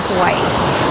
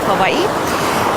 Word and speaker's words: Hawaii: that's how they say hawaii it's spelled with a w but they say hawaii like it's a little bit pronounced like a v so if you want